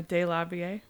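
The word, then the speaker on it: DeLarverie: So last week I did the story of Stormy de la Villa, or de la Vie. Yeah, that's how it's said.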